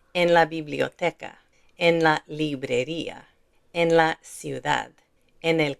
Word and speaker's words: librería: farmacia Notice here librería, there's an accent mark on that i, so we separate these two sounds, i-a, librería, but there isn't one here.